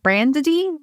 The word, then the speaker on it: Branddy: I have two D's in my name, which always tempts people. It's like a Branddy.